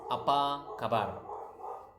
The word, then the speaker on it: apa kabar: It's apa kabar.